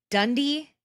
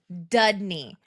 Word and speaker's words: Dudney: But they They kept calling jinxed him it. Dundee, and I'm like, "It's Dudney."